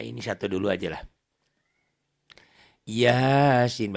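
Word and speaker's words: يس: Yasin bacanya kayak gitu ya. Yas, jangan yasa, jangan kof.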